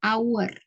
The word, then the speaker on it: hour: dari itu menggunakan ya contoh lainnya adalah kata our tulisannya hour tapi cara membacanya Our ya penggunaannya dalam kalimat